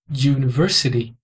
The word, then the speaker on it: university: University que é pronunciado University o u aqui tem som de you e esse som you